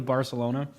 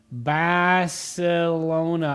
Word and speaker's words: Barcelona: Oh, Barcelona. I think it's actually you're supposed to say Bartholona like with the th. But I don't know. We We don't say that with our American accent.